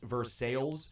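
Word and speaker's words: Versailles: uh you know how like versales Kentucky is pronounced versales even though it's Versa even though it's Versa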